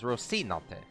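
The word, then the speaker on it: Rocinante: they're pronouncing it but the Spanish pronunciation is rosinante yeah like Sans saying it more rosi you can hear the C more are her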